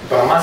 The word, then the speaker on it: Brahma: Brahma Samhita with long A, Brahma, meaning it is the end spoken by Brahma.